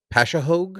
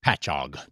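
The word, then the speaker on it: Patchogue: Um, this comes from Frank's original parts from uh Pashahogue. Is that how you say it? Patchog.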